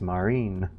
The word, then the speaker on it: Martin: um Martin Ferrer and I if if you're saying it correctly French style uh the T is silent so it's Marin um the return the return of Martin Greer.